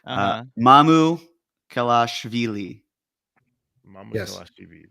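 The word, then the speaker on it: Mamukelashvili: you with the pronunciation, as the Basketball Reference would do it a little bit more phonetically, Mamu Kelashvili. Mamu Yes. Kelashvili. Mamu Kavashvili.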